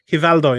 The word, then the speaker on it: Rivaldo: Rivaldo. Hivaldo, you mean, is it? Hivaldo. Is that what it is now? It is though. That's how they pronounce it.